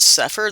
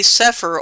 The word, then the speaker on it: Sefer: It's spelled sic per here in Yehudith and we call it suffer. That's how you would spell it in English to know how to pronounce it.